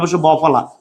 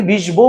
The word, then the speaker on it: বিশ্ব: মধ্যে কোন পার্থক্য আছে তুমি বিষ বউ বলো বলো বিশ্বকে আমাদের এই বিষ বউ আমরা কি বিষ বউ বলি না বিশ্ব বলি বিশ্ব বলি তার মানে এই যে